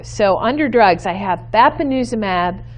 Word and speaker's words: bapineuzumab: promising and they are a mouthful let me pronounce these for you so under drugs i have bapineuzumab so lanuza mab kryn uzum ab and Gant